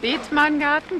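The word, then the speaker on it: Bethmann Garden: Did I pronounce that right? Beetman Garden, genau.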